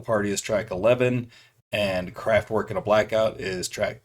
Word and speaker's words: Kraftwerk: If I were to say it in German, it would be Kraftwerk. And English, American, of course, it's just Kraftwerk.